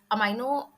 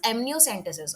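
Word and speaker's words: amniocentesis: फिर उसके बाद अमाइनो receptors, अमाइनो, नो नो no, this is एमनियोसेंटेसिस।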